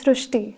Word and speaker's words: Srishti: We have heard of Srishti, but this is a very unique name, Srishti. So in Marathi, the word Ri is pronounced as Ru. So that is why the pronunciation goes Srishti.